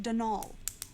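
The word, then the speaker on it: Donal: set don't mind you there's no D at the end so it's pronounced done all that's the way you're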